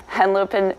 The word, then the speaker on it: Henlopen: it's a tongue twister it's Cape Henlopen State Park and lopen it's not far from